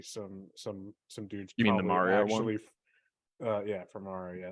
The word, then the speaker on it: Mario: And if you pronounce it Mario, go fuck yourself. Mario.